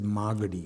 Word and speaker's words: Magadi: And by the way, it's pronounced as Magadi. Magadi. Okay. Magadi. I stand corrected. Magadi. No, unfortunately, the English language makes you, sort of put the accent elsewhere in 90% of the words.